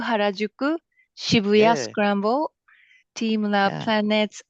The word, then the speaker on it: Harajuku: Mi, you can help me with pronunciation. Shinjuku Harajuku Shibuya Scramble Planet Akihabara Museum of Akihabara.